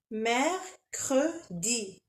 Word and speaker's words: mercredi: Mercredi, si vous la trouvez un peu difficile à à prononcer, vous pouvez la diviser en trois. Mer cre M cre maman alors mère mer creux creux mercredi mercredi on va essayer de le dire un peu plus vite.